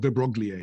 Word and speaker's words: de Broglie: De Broglie, he's the guy, it's spelled de Broglie, you know, but he's pronounced de Broglie.